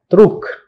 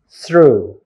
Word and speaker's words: through: if you take it for granted you may pronounce trook but it should be through through sound and sounds okay so how many